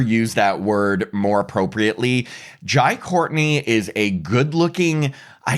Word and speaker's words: Jai: Okay, it's spelled J AI. That sounds like Jai.